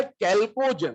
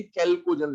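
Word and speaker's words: chalcogen: तो इसका नाम होता है कैल्कोजन, ठीक है। कैल्कोजन जो है, आप हिंदी में इसका कहीं पर अगर नाम मिले तो हिंदी में पढ़ेंगे तो क्लियरली कैल्कोजन लिखा होता है, तो आपको वहां से समझ में आ जाएगा कि ये च नहीं होता, ये क होता है, ठीक है ना।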